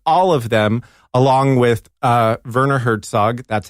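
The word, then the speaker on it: Werner Herzog: movies and on all of them along with Verner Hertzog that's how you pronounce it along with Hertzog's he wanted to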